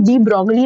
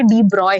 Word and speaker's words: de Broglie: जो है वो एक्चुअली डी ब्रॉगली नहीं है, डी ब्रॉय है। ठीक है, एनसीईआरटी में लिखा है कि हम उसको प्रोनाउंस डी ब्रॉय के तरीके से करते हैं, बट लोग डी ब्रॉगली पढ़ते हैं जिन्होंने एनसीईआरटी नहीं पढ़ी होती।